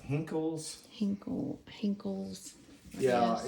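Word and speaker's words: Henckels: I Can't pronounce that. It's Hickles, is that right? Hinkles.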